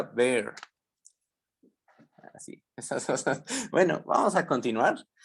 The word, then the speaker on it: Baire: No se pronuncia Baire, se pronuncia Bear.